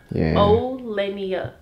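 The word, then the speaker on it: O'Leniyah: like it's literally o and then lenia lenia o lenia everybody seems like they can't pronounce it but I'm like it's literally so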